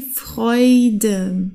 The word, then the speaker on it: Freude: zusammen okay Deutsch die Freude okay hier haben wir ein R und danach ein Vokal deswegen wird das R aus dem Hals ausgesprochen die Freude die Leute heute okay das